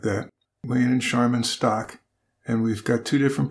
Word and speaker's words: Stock: heard people pronounce the stock and also people pronounce it as Stoke but I'm gonna go with stock because that's how it's spelled yeah that's what I